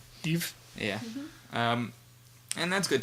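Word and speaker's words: Yves: And his reply was, I believe it's spelled the French way, Y-V-E-S, Eve, as in like... in a dude. Like the French Ivan, Eve.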